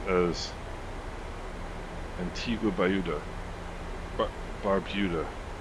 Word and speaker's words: Barbuda: hitting that but okay Barbuda is pronounced as Antiga bayuda Barbuda ah Barbuda okay Barbuda that does sound more eloquent than baruda you guys are in